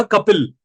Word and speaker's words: कपिल: मैंने एक का नाम लिखा कपिल। कपिल नाम होता है, स्पेलिंग क्या होती है?